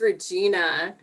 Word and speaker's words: Regina: thank you yes my name is regina and my name can be mispronounced to rhyme with the female body part i remember there was